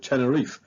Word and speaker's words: Tenerife: capital, Santa Cruz de Tenerife. Now, I am aware that the locals pronounce this Tenerife, but as we're also used to calling it Tenerife, I'm just going to stick with that.